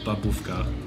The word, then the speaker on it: bábovka: And of course, a Czech cake that I can't pronounce. A Czech cake called babovka.